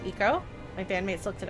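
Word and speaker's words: Ico: of the beginning of i thought it was pronounced aiko it's actually pronounced eco my band mates looked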